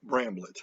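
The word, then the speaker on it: Bramblett: my favorites nasa uh randall uh bramble of bramblet that's how you say his name who works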